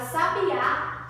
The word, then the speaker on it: sabiá: E já a palavra sabiá tem um acento agudo, por isso a pronúncia é mais aberta.